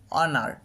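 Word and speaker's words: honour: যেমন অনার, খেয়াল করো অনার, অ অ অনার, তো দিয়ে উচ্চারণটা হচ্ছে, এই জন্য এর পূর্বে অবশ্যই অ্যান ব্যবহার করতে হবে, নিয়ে বলতে হবে অ্যান অনার একটি সম্মান।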